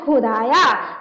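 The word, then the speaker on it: ख़ुदाया: खुदाया नुक्ता नहीं है नहीं रहता तो पढ़ते खुदाया और नुक्ता लग गया तो खुदाया मतलब उच्चारण भाषा में जो है कुछ चेंज आ जाता है ध्वनि कुछ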